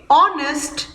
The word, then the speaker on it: honest: children honest and are the letter h is silent so we say honest and r which begins